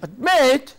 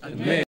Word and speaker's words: admit: Now, it is here the stem, the root that is to be stressed, not the weak prefix.